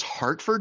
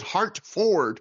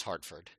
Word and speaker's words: Hartford: Davey also says Hartford. Weird like he call says it Hart forward with a weird emphasis on Ford.